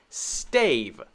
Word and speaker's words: stave: long a sound remember the long a sound is the name a stay stay just like s-t-a-y stave stave and then we just add the v sound stave so let's quickly go